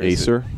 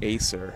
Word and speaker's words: Acer: say the brand that is on that computer Acer Acer yeah okay that's I mean that's how I've